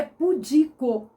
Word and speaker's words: pudico: nenhum acento gráfico mas ela tem a tonicidade dela tá no i na na penúltima sílaba o de a vogal é que tônica tá no ir então a pronúncia é pudico e o que é